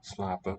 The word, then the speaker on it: slapen: But in these last two words, honden and slapen, we don't hear the N.